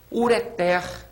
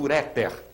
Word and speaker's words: ureter: uma delas vejam bem palavras oxítonas importantes ureter ureter essa tá aqui sublinhada você tá vendo é uma palavra oxítona não se diga portanto uréter ruim ruim a última C